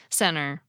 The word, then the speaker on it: center: The /t/ disappeared! Well, not actually. What happened was that I used an alveolar flap, even with that /n/ in the picture. But that can’t be the whole story; if it were, then you wouldn’t hear the difference between my pronunciations of “setter” and “center.” The twist here is that I’m letting air come out my nose while I do it, and the result